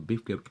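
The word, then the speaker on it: bifurcate: तो बिफ केट यहाँ are silent है, तो बिफ केट का मतलब होता है अलग करना, यानी सेपरेट करना।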